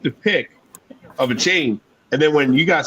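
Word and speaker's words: Achane: have one a chain a chain is how you say his name it's actually a good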